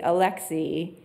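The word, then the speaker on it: Alexei: one is Alexi nav I've been hear saying his name and I wanted to there's an extra curier Alexi is how you say his first name navali um he of course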